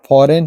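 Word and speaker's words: foreign: rule number छवा है यदि किसी शब्द में एन से पहले जी आए तो जी साइलेंट रहता है य साइन है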